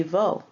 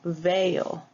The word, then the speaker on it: veo: It would be Vo, but for pronunciation reasons, Spanish changes that to veo.